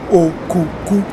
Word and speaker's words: Okuku: Okuku, in the first place, rightly pronounced Okuku, is the general hairdo of the Benin people.